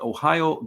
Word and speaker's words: Ohayo: Ohayo gozaimasu. Like the state in the Midwest.